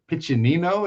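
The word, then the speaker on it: Piccininno: This is issue number 32 by Juliano Pitchinino is I think is how he pronounces his name. That's two C's.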